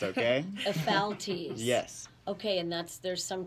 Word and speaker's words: Ephialtes: It's called Ephialtes. A lot of people can't pronounce it right, but it's okay. Ephialtes.